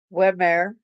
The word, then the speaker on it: Wehmeyer: Mom blamed on migraine the cop said Delissa Weare how pronounce it w h m y e r